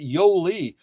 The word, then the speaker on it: Yoli: Am I saying that name correctly? Yali? Yoli? How's that one spelled? Yoli. Got it. Okay, so you pronounce it Yoli.